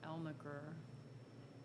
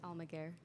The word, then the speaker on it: Almaguer: by Heather um and Nicole elmegur you pronounce her name I can I always mispronounce her name it's almaguer I'm a girl yeah okay the two